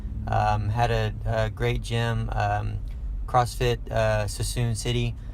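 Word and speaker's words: Suisun City: Had a great gym, CrossFit Sassoon City. I believe that's how you say it. I normally say it's Sui Sun City, but they tell me it's Sassoon City.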